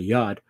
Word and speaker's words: Yod: They say it's supposed to be pronounced like a Y, and that's why you have the Yod.